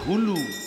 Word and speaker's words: হুলু: খুললেন এটাকে কি বলে উলু নয় সবাই বলে উলু বইয়েতে লেখা আছে হুলুম হুলু মাথায় ঢুকলো হু লু উলু বলবেন না এটা ভুল কথা হচ্ছে উচ্চারণ পাবে হু লুলু মায়েরা যদি হুলুর ধ্বনি